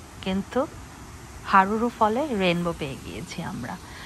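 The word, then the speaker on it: Haruru: এটা এখান থেকে 8-9 কিলোমিটার দূরে, নাম হলো হুরুরু ফল। হুরুরু না, হারুরু। এখানের উচ্চারণগুলো খুবই কমপ্লিকেটেড, কারণ এখানে সব মাওরি ল্যাঙ্গুয়েজ। তো যাই হোক, হারুরু ফলটা কিন্তু অনেক সুন্দর।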